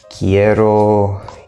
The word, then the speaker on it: quiero: We have three syllables, quiero. And the stress is on the e here. Quiero, quiero.